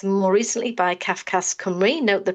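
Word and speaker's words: Cymru: Um for more than a decade we've been using admin data um initially produced by CFAS and more recently by CFAS Camry. note the pronunciation and um if you look at this list of questions you can see the scope of our work.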